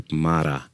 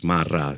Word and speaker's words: Marra: The last name, people say Marra. But in Italian, double R is Marra. So you put a little bit more emphasis on the second R.